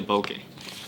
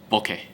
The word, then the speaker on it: bokeh: It's not bokeh or anything. As in Japanese, is bokeh. Bokeh. That's how they say it.